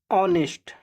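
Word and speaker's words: honest: ऑनेस्ट, ये देखिए दोस्तों यहाँ पर एच साइलेंट होता है, इसको बोलते हैं ऑनेस्ट, ऑनेस्ट, क्या बोलते हैं, ऑनेस्ट,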